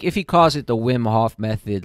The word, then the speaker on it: Wim Hof: Is that how you pronounce it? Yeah, Wim Hof method.